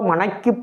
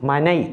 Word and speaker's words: மனை: இரண்டு சுழினாதான் அப்ப மருத்துவ மனை போனேன் அல்ல மருத்துவ மனைக்குப் போனேன் மனை இரண்டு சுழினா மனை என்று தான் உச்சரிக்க வேண்டும் மனை என்று உச்சரிக்கக் கூடாது தயவுசெய்து திருத்துங்கள் மருத்துவ மனைக்குப்